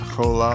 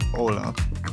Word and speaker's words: hola: But if it's anywhere else by itself, it is silent. So this is not hola, it's hola.